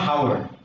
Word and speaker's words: hour: This is not hour. Here the first letter remains silent, and we start pronouncing this word from the vowel sound.